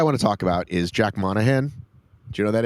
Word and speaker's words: Jack Monahan: So, the guy I want to talk about is Jack Monahan. Do you know who that is? Tell us. That's how you pronounce his name.